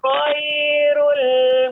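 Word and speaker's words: خير: Innal ladzina amanu wa 'amilus sholihati ulaika hum khairul bariyah. Ya, Bapak, untuk pengucapan ru ya, ini bacanya ro-nya tebal. Khairul dengan khairul. Nah, adapun khairul itu tipis. Namun dia lebih ditebalkan khairul.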